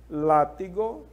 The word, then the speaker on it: látigo: pois e por último látigo que também tem um acento É o lá não é isso então essas